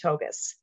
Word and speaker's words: Tougias: are so excited to have to host michael togas today first of all i'm going to stop there did you know that the pronunciation of his name is michael togus now i know i had to ask this